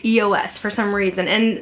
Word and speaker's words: EOS: And not until recently, I realized it's EOS. And I still catch myself saying EOS here and there, but I think it is EOS is how you pronounce them.